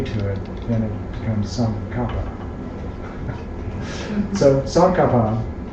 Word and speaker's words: Tsongkhapa: So it's Tsongkhapa. But when you add the J to it, then it becomes Tsongkhapa.